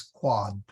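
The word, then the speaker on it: quod: And a minor correction, Alex, this is a short O, so it is quad.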